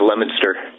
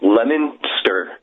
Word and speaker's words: Leominster: Leominster? Actually, with the locals, it's pronounced Leominster. See, I knew it. I never get those right. It's like Leicester in England, but anyway.